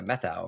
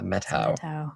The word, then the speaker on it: Methow: I only say that cuz that's how I've heard other people say it, but if you look at you, you're like, "Oh, that's like the methau valley." But then, right. Yeah. So, but if you're a true local, Yeah. the metau.